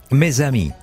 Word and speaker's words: mes amis: Y mes amis, porque eso se une, no es mes amis, mis amigos.